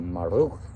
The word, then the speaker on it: Marduk: This young man, he said, and he pronounced it, and he said, you have to roll the tongue. And I said, Marduk.